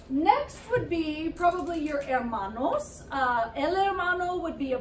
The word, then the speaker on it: hermano: love at Amana and the thing to remember when pronouncing that is that H it's not a hair model okay it's hermano so it's kind of